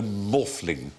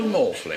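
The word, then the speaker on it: Maughfling: It's the Archbishop of Glastonbury and Stonehenge, whose name is Rollo Morfling. Rollo Morfling. It's spelled M-A-U-G-H-F-L-I-N-G.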